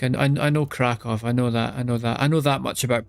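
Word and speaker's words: Kraków: No, but I know the W is like V. Like I know Krakow.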